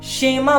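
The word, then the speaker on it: שמע: हम देखें इसका एक हिब्रू शब्द बनता है जिसे हम शेमा बोलते हैं हिब्रू शब्द जिसे हम बोलते हैं शेमा उच्चारण ये है मीनिंग होगी एस एच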